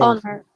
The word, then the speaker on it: honor: H is silent. honor. There is no H sound in honor.